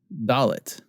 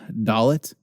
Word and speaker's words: dalet: sound gah gah gimel dalet his next Dalek duh duh da late' it's a right-angle the